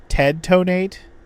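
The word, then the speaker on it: Ted Tonate: Tedonate. Like detonate, but it's spelled Ted instead of debt.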